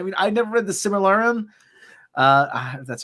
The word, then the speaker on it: Silmarillion: I mean, I never read the Silmarillion. That's how you pronounce it.